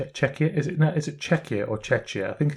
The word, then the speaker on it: Czechia: Yeah, because then they built one in Czechia. Yeah, it was just I was going to say it's Czech something. Czechia? Is it Czechia or Czechia?